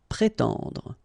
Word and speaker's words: prétendre: So first accent aigu, pré, and then tendre. Prétendre.